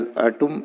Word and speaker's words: आटुम: It is pronounced as atum in Gondi.